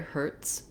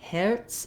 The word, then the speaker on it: Hertz: the tense er sound letter t says a true t here hurts i do let some air out and the letter z says the s sound um in german i believe this was probably from german it would be more like herz they would have more of an air diphthong there but the z says s because in german letter z says this sound so um if that